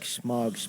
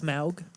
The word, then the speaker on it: Smaug: You look like Smog's penis. I've heard that before, and I always enjoy it. It's Smaug.